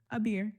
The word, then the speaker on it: Aber: Aber, that's how you say it, right? Abir. Aber, my fault.